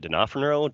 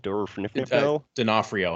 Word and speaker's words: D'Onofrio: I'm not going to say his name right denofranero D'Onofrio yeah for real yeah he's